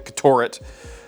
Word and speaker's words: Ktoret: It's KT O R E T. So I'm saying Ctor 511 Black Tai.